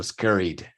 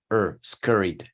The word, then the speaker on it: scurried: So scurried, scurried. Lo interesante acá es la pronunciación de la U. Cuando sigue, cuando va seguida la R, es scurried, scurried, scurry, scurried.